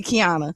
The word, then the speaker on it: Qiana: No, but I mean you people So, it's so funny uh when people look at my name sometimes they can't pronounce it because it's the Q without the U.